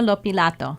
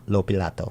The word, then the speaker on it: Lopilato: i can't get it it's luisana lopilato lopilato lopilato not that difficult not that bad it's a tongue twister but you get